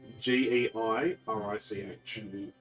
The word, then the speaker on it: Gyrick: on the inside is Gyrick. Yay! Hello. Hi. Good morning, Archmage. Gyrick is fine. We are. You're hybrid. How do you spell that? G, like guy and then Rick? Geirich.